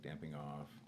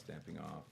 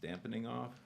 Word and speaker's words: damping off: I've also heard it pronounced dampening off. Yeah. But I'm not a scientificist, so I can't weigh in on that one. But No. So proper. Sorry. So proper. Yeah, no, it's just an added Classy. syllable.